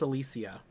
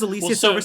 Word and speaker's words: Alicia: her oh just so you know it is pronounced alicia she she corrected the entire world like two weeks ago i just want to bring it up later but that was alicia wow that was yeah um and that was